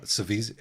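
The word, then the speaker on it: Saveze: at least opens with the author's note on pronunciation, which says that the letter Z is pronounced Z, as in German. Oh, excellent. I don't actually know enough German to know whether or not that it is as in German, but the letter Z is definitely pronounced TS, and so it's Savizzi, clearly.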